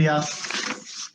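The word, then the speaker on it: YACC: Now, Yak, the pronunciation is like Yak, Y-A-K, right?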